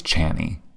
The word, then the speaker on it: Chani: It's Chani. Chani? I think it's Chani. Like it's supposed to be like Annie with a ch, because it looks like Chani.